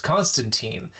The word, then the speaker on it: Constantine: but might be wondering why are you pronouncing his name so weird. It's Constantine and it's not.